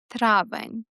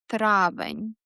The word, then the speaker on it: травень: And the final month of the spring, May, травень. Repeat after me. Травень.